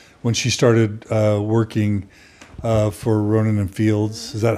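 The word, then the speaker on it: Rodan + Fields: Your mom has shared with us when she started working for Rodin and Fields. Is that how you say it? Rodin and Fields.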